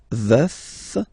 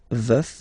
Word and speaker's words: veuf: Je suis veuf. Veuf, so remember to pronounce the final F.